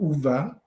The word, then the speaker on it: Ove: it pronounced like oh we don't have that in english it's right there it's in the middle part of hoover hoover uber uh it's right there